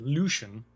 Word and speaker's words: Lüshun: And now he said Lüshun, like a little accent on the first U.